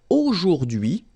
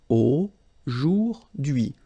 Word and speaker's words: aujourd'hui: H is not pronounced, so you only get this d'hui thing. Aujourd'hui.